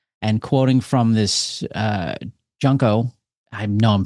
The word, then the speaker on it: Junko Yoshida: And quoting from this uh Junko I know I'm pronouncing that wrong. I'm so sorry. Junko Yoshida.